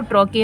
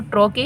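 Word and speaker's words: trochee: उसी तरह से ट्रॉके, देखो इसका जो प्रोनाउंसिएशन है वो ट्रॉके है, और ट्रॉके ही इसको याद रख लो।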